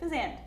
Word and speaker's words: Fazende: Fazende, like Shazam, is here with us. Is that right? Did I say it right? Yeah. Fazende? Yeah, just go Fazende.